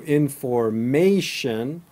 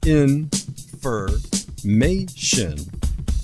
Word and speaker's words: information: Information, vacation, organization, invitation. The standard American accent for pronouncing the ending is shin, not shun.